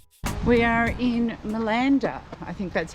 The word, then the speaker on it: Malanda: we are in milanda I think that's how you say it in